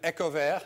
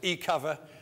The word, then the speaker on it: Ecover: Bremens, who's chairman of Ecover, I'm supposed to pronounce it, or Ecover, as some of the Brits call it.